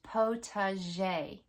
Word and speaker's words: potager: I think the best place to begin is the correct pronunciation of the word potager. P-O-T-A-G-E-R. And it's pronounced potager. Or it's also pronounced potager. But the most common way that I've heard it pronounced correctly is potager, potager garden.